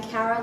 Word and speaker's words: Carrah: For those of you who don't know me, I'm Carrah, like caravan without the van. That's how you pronounce my name.